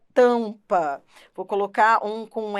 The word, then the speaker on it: tampa: pente e em Tampa repare o m e o n não são pronunciados isso é dígrafo pente você não pronuncia o n você não fala penite tampa você não pronuncia o m tam se você pronunciasse seria tam se você pronunciasse o m se você pronunciasse o n seria penite né você não pronuncia os